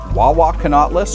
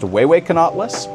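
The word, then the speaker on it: Huehuecanauhtlus: I believe when I originally learned how to pronounce this one I heard it Wawa canatas or at least that's what I thought it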